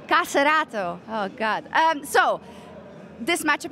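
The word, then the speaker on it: KSCERATO: You told me how to say it correctly. Caserato is the correct way. Caserato.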